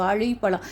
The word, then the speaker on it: வாழைப்பழம்: ழா உச்சரிப்பு, நாக்கை வளைத்து மேல் அன்னத்தில் உள்ளாடி வளைத்து சொல்லக்கூடியது வாழைப்பழம்.